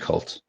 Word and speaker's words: KVLT: KVLT. Yeah, it's just pronounced. It's pronounced Cult.